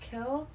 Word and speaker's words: kiln: a kiln for it apparently it's pronounced kill i've yet to hear